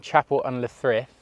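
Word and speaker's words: Chapel-en-le-Frith: man Jackie boy thank you so originally from Chapel under Thrift did I get that right that's right yeah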